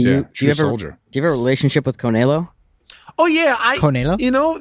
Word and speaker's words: Canelo: It's Canelo.